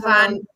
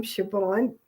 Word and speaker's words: Siobhan: Which is Von And her name is Siobhan. You Mhm. pronounce her name Siobhan. I think so, unless she tells us different.